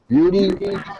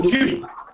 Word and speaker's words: Beauty: Her name is Beauty. Yeah. You have to spell that. Beauty. Oh, Judy. Beauty. Judy. No, not Beauty. Like, like, Julie. no, Beauty. Beauty. Like beautiful.